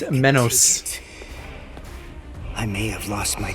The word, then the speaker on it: Menos: Why do you say it like mayos? It's not mayonnaise. It's menos.